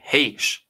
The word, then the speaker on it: Hsieh: Su-wei, heesh. That's the way you pronounce it.